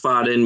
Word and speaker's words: Faden: Pronounced Faden means thread and refers to white lines that run through the crystal.